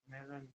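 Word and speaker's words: Melone: तरबूज, उसको भी हम मेलन ही कहते हैं, और मस्क मेलन कह रहे हैं खरबूजा, उसको भी हम मेलन ही कहते हैं, ठीक है। और इसकी हमारी प्रोनाउंसिएशन होती है मेलोनो, मेलोनो, मेलोनो।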